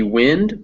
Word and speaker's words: wind: And in fact, if you look at this word, that Wind. word can be wind, but it can also be wind.